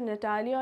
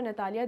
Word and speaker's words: Natalia: अब यहाँ पे बेसिकली यहाँ ये नटालिया है, इसको नतालिया नाम से भी बहुत ज़्यादा, तो नटालिया और नतालिया these are द two pronunciations.